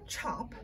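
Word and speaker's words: tjap: or uh they create something called a chop which again isn't spelled like c-h-o-p it's spelled t-j-a-p and uh that's just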